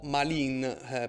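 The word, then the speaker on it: Malines: Si vola a Mechelen o Malin per chi lo pronuncia in francese, squadra che milita nel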